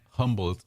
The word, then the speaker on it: Humble: it's parallel Terrell and instead like humble it's not humble humble oh I learned that